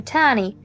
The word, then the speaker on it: Tannie: I liked the way she sometimes called me Tannie, auntie, even though she says it in her English way, and it rhymes with nanny, when in fact, it rhymes with honey.